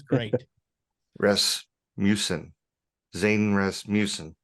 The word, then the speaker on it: Rasmussen: Zane Rasmussen. It's got the U, but it's pronounced with the A.